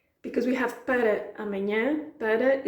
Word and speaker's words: para: Because we have para amanhã, para is a word we often say para or pá. So, eles dão chuva para amanhã. I said para amanhã because it ends with an A and then amanhã starts with an A. Two vowels, they sort of like clash. It's just easier to speak that way.